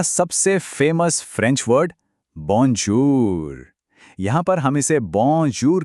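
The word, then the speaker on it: bonjour: गौर कीजिए, जो ओ है वो तो ओ है, लेकिन जब औ साथ में आता है ना, तो आवाज थोड़ी नाक से निकलती है, बॉन्जूर।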